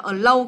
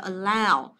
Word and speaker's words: allow: Cái này đừng đọc là allow các em nhé, allow đây là âm ao nhỉ chưa, đọc là allow.